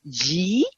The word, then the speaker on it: YHI: wellness we have our own in-house brand called G spa I'm gonna just say yhi but it's pronounced G it's the goddess of light so the light